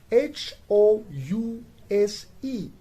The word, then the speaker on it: house: words we have and where the h is pronounced that is house h o u s e house while on the other